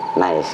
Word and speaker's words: Naisz: Iya, digabung jadi Nice gitu loh. Tulisannya? NAIZS. Oh iya. Nice. Tapi kalau secara baca cepat, Nice. kayak macam nice gitu.